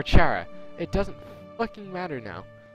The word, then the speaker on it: Chara: Like I get it, like it's spelled like Kara as in character, but it's either pronounced like Kara or Chara.